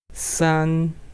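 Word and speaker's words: 三: good next one three try sun sun r is two and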